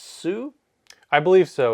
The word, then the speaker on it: HSU: of is it pronounced Sue? I believe so. It's HSU. Yeah. H silent, so Sue.